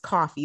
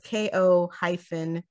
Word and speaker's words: Ko-fi: Well, I think it's pronounced coffee, but it's Ko-fi.